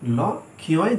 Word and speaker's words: লক্ষ্য: লক্ষ্য বানান হচ্ছে কি ল ক্ষয় জফলা, কিন্তু শুনতে অনেকটা লাগে লক্ষ্য লয়কার ক ক্ষয়কার লক্ষ্য, এইখানে জফলা লোপ পেয়েছে।